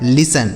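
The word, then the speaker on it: listen: एल आई एस टी इ एन लिसन। यहां जो टी है यह साइलेंट होता है। इसे नहीं पढ़ना होता है। लिसन।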